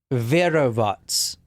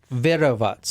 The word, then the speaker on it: Verovats: This is Verovats. That's how you say her name. I actually looked it up here. Verovats.